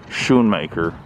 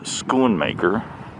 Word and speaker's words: Schoonmaker: thinking to myself that this boat is probably not pronounced the name of it is probably not pronounced shoemaker and they confirmed inside that it was schoonmaker and this is the